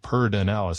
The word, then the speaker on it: Pedernales: We pronounce things kind of in a strange way sometimes here in Texas. It says, we pronounce it Pedernales.